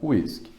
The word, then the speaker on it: whiskey: a letra e antes do Y mas a pronúncia com continua sendo whisky então alguns especialistas consideram Jack denios um BBom